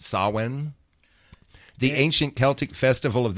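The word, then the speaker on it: Samhain: It looks like Sam Hayne, how it's spelled. S A M H I H A I N. But it's really pronounced sawin.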